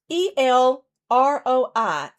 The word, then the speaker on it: El Roi: you know, it's a Hebrew word and it's spelled like this, E L R O I, El Roi.